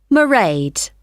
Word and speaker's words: Mairéad: I won't be working then, so you'll see my assistant, Mairéad. Sorry, how do you spell that? It's M A I R E A D. Mairéad.